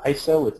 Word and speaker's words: ISO: 60s most of you heard have heard of iso it's by the way it's pronounced ISO not ISO um International Organization for standard uh